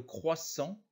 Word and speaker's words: croissant: pas le vent devant le croissant le thé ne se prononce pas sur ces trois